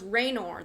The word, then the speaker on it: Raynor: No, it's Raynor though.